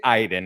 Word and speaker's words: Aiden: spiritual being called Iden which is spelled Aiden but they say Iden and it drives me